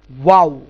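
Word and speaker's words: و: তাহলে ওয়াবের উচ্চারণটা কি, দুই ঠোঁট পুরোপুরি মিলবে না, একটুখানি ফাঁকা থাকবে, দুই ঠোঁট পুরোপুরি মিলবে না, একটুখানি ফাঁকা থাকবে, এখান থেকে ওয়াইয়ের উচ্চারণ হবে।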